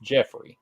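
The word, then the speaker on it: Geoffrey: with the cannibal it's spelled Joffrey but it's pronounced Jeffrey in the commercials it's pronounced Jeffrey really so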